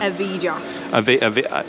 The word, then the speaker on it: Evija: Evija.